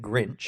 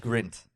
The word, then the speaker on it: Grint: was pronouncing it wrong the entire you kept pronouncing it grinch yes it's just grint grunt okay oh was he like no no